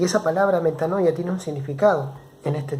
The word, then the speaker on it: metanoia: y se escribe de esta manera y se pronuncia metanoia y esa palabra metanoia tiene un significado en este tiempo para nosotros